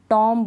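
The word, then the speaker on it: tomb: तो यहाँ पर बी का उच्चारण नहीं होगा, बी को हम नहीं पढ़ेंगे। चलिए स्पेलिंग्स पढ़ लेते हैं। बॉम्ब, टॉम्ब नहीं, बॉम्ब, टॉम, डम, क्लाइम, कॉम, लैम, थम।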